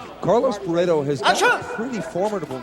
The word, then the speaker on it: Barreto: Telligman is defending well against the low kick attempts there by Carlos Barreto. Or Barreto, as they pronounce it in Brazil.